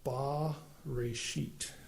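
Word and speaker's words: בְּרֵאשִׁית: like a capital T and it would be pronounced ba rashit.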